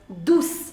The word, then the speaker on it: douce: Now the pronunciation is S. But if after C you have E, then the pronunciation of C is already S. You do not want to apply, you do not need to apply any accent over here.